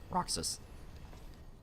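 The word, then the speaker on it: Raksas: cloak guy his name is roxus it's not spelled like Kingdom Hearts roxus it's our r a k s a s roxus Eastern Exile is Rickert uh yeah I mean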